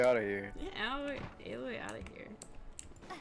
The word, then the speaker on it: Aloy: Get Alloy out of here. Get Aloy out of here.